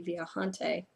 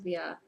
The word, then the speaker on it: viajante: So the Spanish way would be viajante. If it is, I guess the Portuguese way is viajante. I don't know. I don't really care. I'm going to call it the viajante. We'll just go with that. Apparently in Portuguese they pronounce J's, but I have no clue how that sounds, so we're just going to roll with it.